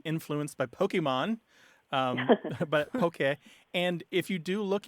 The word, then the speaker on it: poke: to go back to the fish dish is p o k e pronounced basically as poke although in the mouths the mouths of angones it usually comes out as Pokey or poke poke um I have seen it